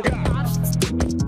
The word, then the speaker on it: قاع: هي من الكلمة العربية قاع أي أقصى عمق الشيء، واستعيرت الكلمة للتعبير عن الكلية بمعنى كل شيء وصولا حتى القاع، وطبعا تنطق القاف مثل الجيم المصرية، وهي من مرادفات الكلمة